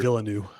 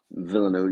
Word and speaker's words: Villeneuve: Yeah, I think Villeneuve, is that how you pronounce his Yeah, I name? think The it's Denis director Villeneuve. Villeneuve.